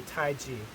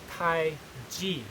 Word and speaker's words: Taiji: still see t-a-i-c-h-i as the common spelling for tai chi but it doesn't really give you an accurate representation of uh the pronunciation because it's not pronounced tai chi it's pronounced tai g the opinion romanization t a i j i